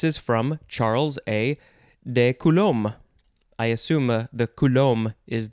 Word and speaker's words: coulomb: go second form of coulomb uh yeah coulomb or it could also be coulombic coulomb you can you can add the b you can take out the b coulombic coulombic adjective